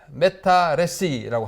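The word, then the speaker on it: métarécit: 프랑스 말로 이 거대 담론을 메타레시라고 합니다. 프랑스 말은 끝에 t를 발음하지 않는 특징이 있어요. 메타레시.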